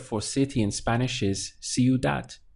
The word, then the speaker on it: ciudad: city and Spanish is Cu that literally sounds like that see you that we have three syllables we have see you that and this word is ending in a consonant so I can tell you that it's classified as a feminine word so the city would be la ciudad or una Cu that a city to create a pathway back to the memory just imagine yourself on the sidewalk saying see you that and it will